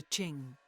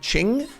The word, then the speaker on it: Qing: way for the Ching was that a j noise or a CH noise was it Ching or was it Jing wondering how I'm supposed to pronounce this word is this the word that people were saying it's similar to where phonetically English speakers get China from so ching all right welcome